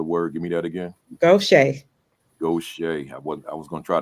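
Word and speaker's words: Gautier: Additionally, your leadership at Pascagoula was instrumental in aiding the Pascagoula, and I forgot the pronunciation of that other word. Give me that again. Gaucher.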